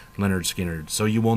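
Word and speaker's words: Lynyrd Skynyrd: this with than their debut album pronounced leonard skinner so you will not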